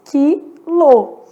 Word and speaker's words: quilo: Tem que tomar maior cuidado com esse quilo aqui, porque, na verdade, olha o que acontece. Quilo. Faço a transcrição, eu percebi que eu tenho 5 letras e 4 fonemas. Na verdade, esse U que apareceu na palavra quilo é um U nulo.